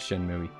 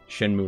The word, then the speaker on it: Shenmue: feels a little bit Shin movie and that is not my way of pronouncing shenmue that was me saying Shen mui shenmue like um spellbinder a major